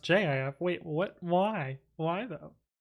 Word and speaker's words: Gif: But there's a town near Paris called GIF, and it's pronounced JIF.